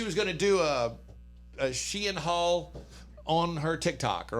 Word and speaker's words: Shein: Full disclosure, I thought this business is pronounced Sheen, but it's pronounced Shein. Yeah, Shein.